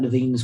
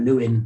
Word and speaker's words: Lewin: right back here to kurt levine's work in the 1930s i don't know if you've read any or kurt lewin most people would pronounce it but it's his german pronunciation and he he if